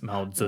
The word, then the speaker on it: Mao Zedong: Mao Zedong is like people just pronounce Z too much. It's Mao Zedong.